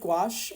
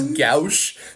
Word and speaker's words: gouache: not know how to pronounce gach I was pronouncing that as gou that really got me that really got me